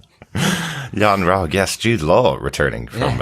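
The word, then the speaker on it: Yon-Rogg: I do feel that yon Rog well it does it rhymes with eggnog Yan ra yes Jude Law returning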